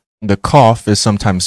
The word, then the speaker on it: Qaf: The Qaf is sometimes spelled Qoph and is said to be represented in English by the letters Q. However, it is always pronounced like a K.